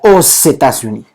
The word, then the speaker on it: aux États-Unis: que si nuestro sustantivo, nuestra palabra comenzaba con una vocal, entonces hacíamos una alianza fonética y entonces sería aux États-Unis, ¿ok? Aux États-Unis. Si yo no puedo decir aux États-Unis, es aux États-Unis. Ok, hacemos una alianza fonética que permite precisamente entender cómo se pronuncia este país.